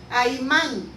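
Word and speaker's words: Ahiman: El rey de Persia se llamaba, es una A, una H, una I, una M, una A y una N. Y se pronuncia Aimán.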